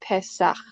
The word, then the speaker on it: Pesach: it's a connected arch, that one has the more ch sound at the end. So I would pronounce this, it's read right to left. So Pe, Samek, Het. I would pronounce it Pesach.